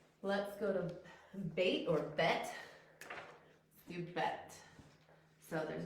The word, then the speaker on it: bet: And that's bet. Or you also hear it pronounced bait.